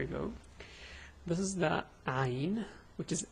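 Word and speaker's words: عين: So this is Ayn. The pronunciation is A, U, A. This is fast, let's go slow.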